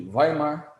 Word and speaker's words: Weimar: desemprego e o governo Alemanha a república de Weimar assim pronuncia se mostrou frágil se mostrou incompetente Esse